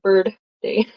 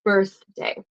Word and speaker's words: birthday: vibrates right so birthday I work with quebecers so I hear them always say bird day no it's not birdday it's birthday so happy birthday do